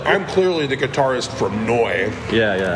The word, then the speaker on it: Neu: I'm clearly the guitarist from Neu.